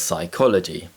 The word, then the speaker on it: psychology: b sounds there are several common words which contain the silent letter p such as psychology and the silent letter b such as doubt to produce the t